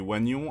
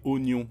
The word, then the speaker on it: oignon: Tu as dit oneignon alors que c'est oignon. Le i ne se prononce pas.